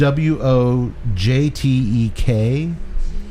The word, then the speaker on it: Wojtek: - this is the Wojtek it is spelled wo j tek but i believe it's pronounced the polish pronunciation is Wojtek but we will call